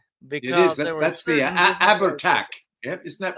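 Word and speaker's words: Abhartach: That's the Abertac. Yep. Isn't that pronounced the Abertac?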